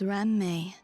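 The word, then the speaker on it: Ruan Mei: year my name is ran May ran when saying my name please don't run the syllables together want some pastry the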